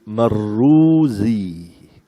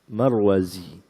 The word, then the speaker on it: المروزي: Ada Al-Marwazi dengan Zai. Kalau dengan Zal, bacanya bukan Marwazi, tapi Marruzi. Marwazi. Alif, Lam, Mim, Ra, Z, Ya. Marwazi. Ada Mar, Alif, Lam, Mim, Ra, Waw, Zal, Ya, Marruzi.